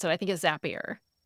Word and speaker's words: Zapier: I think it’s Zapier. I always pronounce it Zapier because the little code you build is called Zaps.